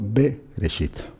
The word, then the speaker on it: Bereshit: perfectamente que la Torá no empezaba con el sonido Bereshit, sino empezaba con el sonido Bereshit, ¿eh? Con una E muy corta después del sonido de B.